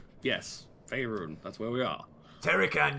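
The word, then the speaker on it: Faerûn: Well, I'll tell you that in a second, but it is Faerun. Yes, Faerun, that's where we are.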